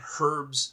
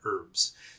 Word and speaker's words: herbs: Do you mean herbs?" And I'd say, "Yes, I mean herbs." So, yes, the H is silent in the American version.